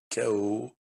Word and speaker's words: chaos: Но нужно помнить, что есть слова, в которых буквосочетание СХ произносится как звук К. Как правило, это слова греческого происхождения. Eh bien, lisons-les и давайте прочитаем их. Acronisme, archéologie, chaos, chorale, chronique, chœur, mélancolie,